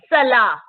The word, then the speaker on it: Salah: Salah.